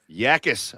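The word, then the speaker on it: Jacas: Yakis, I said it wrong the first time. You corrected me.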